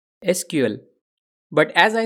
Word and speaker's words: SQL: SQL we can say the most correct way to pronounce the language is as letters SQL but as I said